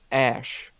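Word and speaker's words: Æ: supposed to pronounce it the AE symbol that's in the middle there is pronounced ash so the kid's name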